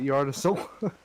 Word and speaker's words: Yggdrasil: Have you never like looked at Yggdrasil? What's Yggdrasil? Oh, The Yggdrasil. world tree. Yggdrasil. Yggdrasil. Yeah, I've always pronounced it Yggdrasil.